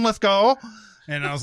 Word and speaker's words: Lithgow: longest time i saw i said lithgow for the longest time until i actually heard him oh heard him say it yeah where he's like hi i'm john lithgow and i was like